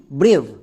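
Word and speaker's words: brave: এবার আমরা সবাই জানি শব্দের শেষে ই থাকলে সেই ইটা সাইলেন্ট থাকে। তাহলে এই ওয়ার্ডের উচ্চারণ দাড়ালো বি আর এ ভি ই ব্রেভ।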